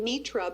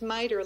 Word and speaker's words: MITRE: When I kept learning about P-TECH and MITRE, it's called, I kept calling it Mitra, but it's actually pronounced MITRE, like lighter with an M.